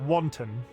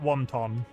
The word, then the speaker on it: wanton: up that word yeah like that wanton not wonton thank you for correcting